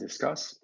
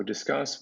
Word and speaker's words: Disqus: So Disqus, which is pronounced as in discussion, but spelled in sort of a weird old school Web 2.0 way with a Q.